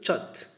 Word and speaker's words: chat: C'est un mot anglais qui se prononce chat, du verbe bavarder.